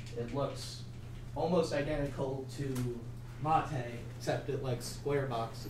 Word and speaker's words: MATE: This is Mate. It's pronounced Mate, not Mate.